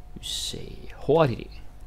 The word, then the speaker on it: hurtig: You say hurtig. Hurtig, that's the word. Han er ikke så hurtig. Yeah, that is a silent G. That is correct. Han er ikke så hurtig.